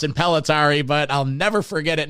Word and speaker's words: Impellitteri: me three weeks to figure out how to pronounce it pelari but I'll never forget it now so that's